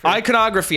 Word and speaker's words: iconography: to pronounce this word iconography i always forget the emphasis on the con not the eye iconography and the uh